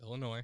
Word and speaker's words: Illinois: do you say it it's illinois there's no noise in illinois by the way it